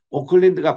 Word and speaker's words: Auckland: 오클랜드가 발음은 비슷하지만 스펠링은 완전히 틀려요.